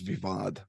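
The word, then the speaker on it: voivod: of given to him pronunciation is vivad vivad there you go okay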